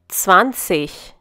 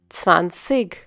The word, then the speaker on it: zwanzig: When G forms a part of an IG suffix, it is pronounced as ich. You might also find some people pronouncing this number as zwanzig. This is because they have a different dialect.